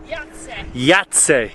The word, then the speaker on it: Jajce: never pronounce it Molly yat yat the see we would say ji cuz it it's spelled with a J um but they say why just to be confusing but this Fortress Yeah